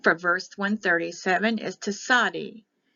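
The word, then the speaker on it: tsadi: verse 137 is to Saudi t z a d e the King James version had t-z-a-d-d-i that all we're going to pay attention to is the TZ sometimes it's TS the branch of righteousness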